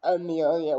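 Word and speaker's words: Amiliah: And Amelia, the traditional Amelia with an A, A-M-I-L-I-A, and then another H. I like to put H's instead of just the A's, because again, the H is silent.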